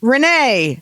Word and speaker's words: Rayne: Yeah, this girl, her name is spelled Rayne. Guess how that's pronounced? Jeff. Jeff. I don't know. Rainy? Renee. Right. Rayne. Yeah. Right. Yeah. So Renee.